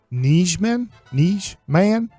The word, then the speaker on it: Nijman: puts a lot of emphasis on the man. Let me see if I can play it one more time. N-I-J. Nijman. There it is. Like, that was what was his incorrect about it. I didn't say man forceful enough.